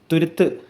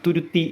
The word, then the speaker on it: തുരുത്ത്: പിന്നെ ഈ ഒരു തുരുത്ത് എന്ന പദത്തിൻ്റെ അർത്ഥം വെള്ളത്താൽ ചുറ്റപ്പെട്ട് കിടക്കുന്ന ഒരു പ്രദേശം എന്നാണ്, അഥവാ ഒരു ചെറിയ ദ്വീപ് എന്നൊക്കെ നമുക്ക് ഇതിനെ വിശേഷിപ്പിക്കാം. പലരും തുരുത്തി എന്നൊക്കെ പറയാറുണ്ട്. ശരിക്കുള്ള ഉച്ചാരണം തുരുത്ത് എന്നാണ്.